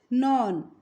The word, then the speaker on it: known: KNOWN is called non. Here K is silent. We read this non.